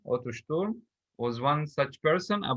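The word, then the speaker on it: Otto Sturm: the t or the p the s is pronounced as as we said earlier otto storm otter storm was one such person a boy their age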